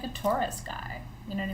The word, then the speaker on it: torus: you about what's called the tube taurus and it's spelled t-o-r-u-s it's not like the ford taurus i always joke about